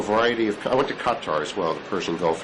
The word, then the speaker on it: Qatar: Qatar. Qatar? Yes. I've never known exactly how to pronounce it.